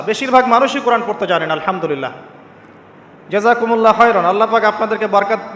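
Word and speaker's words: الحمد لله: আলহামদুলিল্লাহ।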